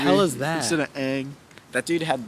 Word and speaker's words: Aang: Didn't they like make up new like how to pronounce the names? Like it was, didn't they call? called him Ong. Yeah. in What the movie hell is that? Instead of Aang.